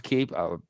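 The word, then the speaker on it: Emmerich's Keep: on the end so do you say the e on the end or do we say emmerich's key uh i believe yeah i would pronounce the keep i i've only heard it ever pronounced as keep yeah that's how you've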